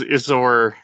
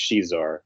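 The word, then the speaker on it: Xizor: it says it's pronounced she's or like the x is pronounced like sh oh okay oh and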